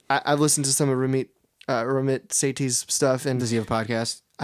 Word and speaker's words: Ramit Sethi: And I have a great book recommendation is I Will Teach You to Be Rich by Ramit Sethi. That's how you pronounce it.